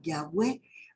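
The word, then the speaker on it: Yahweh: en con exactitud y los eruditos modernos conjetura que originalmente se pronunciaba yagüe aunque actualmente en las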